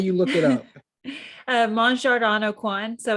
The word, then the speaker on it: Mon Jardin Au Coin: it's how do you look it up uh mon jardano quan so it's spelled m-o-n-j-a-r-d-i-n a-u-c-o-i-n yeah you can find it